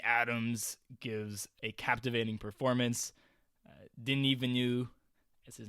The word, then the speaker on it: Denis Villeneuve: Denis Villeneuve, as his name is pronounced.